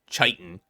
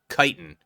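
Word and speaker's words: chitin: A lot of people like to goof around say chitan. Kitan. Yeah, it's it's Kitan, not Chitan, right?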